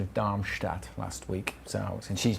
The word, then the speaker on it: Darmstadt: I was complimented on random kind of compliments about how I was complimented by Mia on my pronunciation of Darmstadt last week.